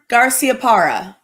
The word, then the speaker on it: Garciaparra: game correct so wow and how do you pronounce his name again no no more garciaparra whoa i'm impressed that was good spanish yes